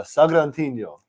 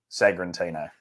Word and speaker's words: Sagrantino: We have a Sagrantino. Sagrantino.